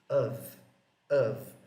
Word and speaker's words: of: Muita gente tem a tendência de falar off, off. E na verdade, a pronúncia dessa palavra é mais próxima de of, of.